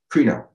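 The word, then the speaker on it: κρίνω: or cry no or I would say Cree because it's got phonetically two e's okay so it's creno um and it says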